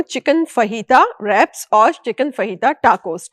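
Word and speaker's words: fajita: फहीता जो है वो बेसिकली स्पेलिंग तो FAGITA है, लेकिन जे जो है वो साइलेंट है, H के उसमें पढ़ा जाता है। फहीता कहला, उसको फजीता मत कह दीजिएगा कहीं पे आप मेरी बेइज्जती हो जाएगी।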